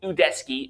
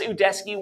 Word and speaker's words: Udesky: That's another mispronunciation. I don't know if it's because of this guy's weird accent or something, but you gotta do your research, dude, because it's pronounced Udesky. Not Udesky. Udesky. Like Udesky. God.